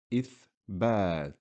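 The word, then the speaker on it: إثبات: Here we have a Hamza carrying a kasra. We know kasra makes the sound I, so we just say I. And the word is pronounced ithbat. Ithbat, which means evidence.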